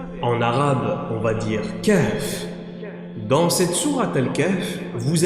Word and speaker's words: Kahf: Remarquez que dans la prononciation de Kahf, Kahf, Kahf, vous avez un souffle qui entre dans la poitrine puis ressort.